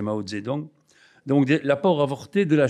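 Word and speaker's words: Mao Zedong: de maozedong oui enfin je dirais mautzetung parce que nous avons plus l'habitude de le dire la vraie prononciation paril c'est maozedong donc l'apport avorté de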